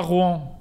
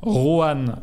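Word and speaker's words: Roanne: Non, pas Rouen, Rohan, R-O-A-2-N-E. Tu sais que tu parlais de Rouen, je me disais pourquoi étonné de le voir dans un classement sur les villes.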